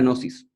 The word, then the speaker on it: gnosis: la búsqueda de la gnosis, se escribe con una G muda. Y la gnosis es un estado mental